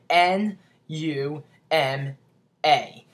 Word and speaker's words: pneuma: me you'll be like n u m a but really it's spelled p p n e u m a and it sounds like Numa but if you look